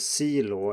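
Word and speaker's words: C罗: call them ronaldo right so in chinese we have the law which is the first syllable of ronaldo although with an l instead of an r because well reasons and the c of course is for cristiano here so if we have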